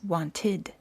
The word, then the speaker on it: wanted: If the last letter of the word is spelled with a d or a t, the ed is pronounced as a separate syllable with an id sound.